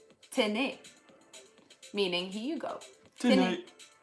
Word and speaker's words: tenez: Tenez. Tenez. Is it tenez? Tenez. And it's spelled Tenez.